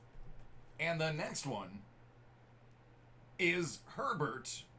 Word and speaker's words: Herbert: the next one is Herbert rhymes with sherbert it's 15 out of